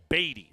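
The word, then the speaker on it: Badie: B 's name and he just wrote back batty like you know again emphasis on the first syllable batty okay like we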